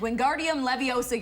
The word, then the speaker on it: Wingardium Leviosa: thank you happy all right this weekend Wingardium Leviosa yourself into theaters for the newest film in